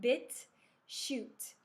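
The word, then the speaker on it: BitChute: you never heard a bit shoot it's it's spelled b-i-t-c-h-u-t-e it's a competitor of youtube bit shoot pitch shoot and if you have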